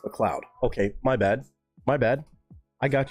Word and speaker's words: MacLeod: Oh, so it's still pronounced McLeod.